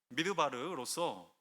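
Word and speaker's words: מִדְבָּר: 그러나 광야는 히브리어로 미드바르로서 발음을 조금만 달리하면 메다베르라고 해서 말씀하다라는 뜻이 됩니다.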